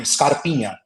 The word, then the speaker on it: Scarpinha: So you're saying it correctly, Scarpinha.